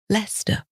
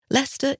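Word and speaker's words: Leicester: so is lerer now if we were American we would have simplified this spelling and spelled it l s r Lester and if you bear that in in mind leester isn't difficult to say even leerer and there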